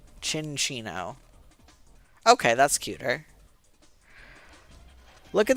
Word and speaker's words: Cinccino: I've definitely Oh, it's pronounced like chinchilla. Sin- Chin- Cinccino. Cinccino.